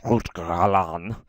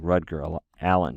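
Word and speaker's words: Rutger Allan: And Rutger, let's try to say his name like the Dutch do, Rutger Alan, right? Rutger, it looks like Rutger Allen to me, but Rutger Alan, he argues, hey, the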